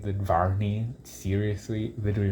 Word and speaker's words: Varney: And the name rhymes with Barney, so everybody's gonna make fun of him too for that. Like, he could have had a better name than Varney.